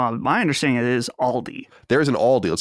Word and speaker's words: Aldi: Aldi? Micah always says Aldi, and I've heard that every once in a while. My understanding it is Aldi.